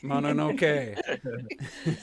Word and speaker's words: Mononoke: get on me about Princess Mononoke. I always said Mononoke. Yeah, He's you like, said is it Mononoke. E at the end or is it just an E? It's just an E. It's Mononoke. Is it an EY motherfucker?